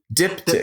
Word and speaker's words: diptych: Can you pronounce the title for me? Diptych.